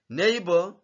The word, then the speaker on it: neighbor: continue here we have neighbor nebor this G is not pronounced say nebor ne